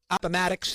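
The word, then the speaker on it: Appomattox: He asked the grants, begged them, you know, they the the war was over aamax. I think I pronounced it right. Appamatics.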